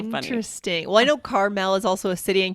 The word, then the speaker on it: Carmel: Well, I know Carmel is also a city in California, right? Near Malibu. Isn't Well, it? that's a different pronunciation again, right? And that's Oh, okay. that's spelled Carmel. Right. But it's Carmel with the Carmel.